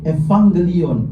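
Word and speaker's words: εὐαγγέλιον: Eu itu dibaca ev. Jadi yuang gelion itu dibaca evangelion.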